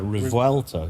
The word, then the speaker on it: Revuelto: I thought it was Revolto. Revuel. How do you spell it?